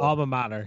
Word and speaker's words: alma mater: Alma mater. You had it. I must have mispronounced it the first time.